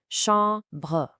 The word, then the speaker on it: chambre: Now listen closely to that nasal sound in chambre. You really have to drop your jaw and let the sound resonate. Chambre.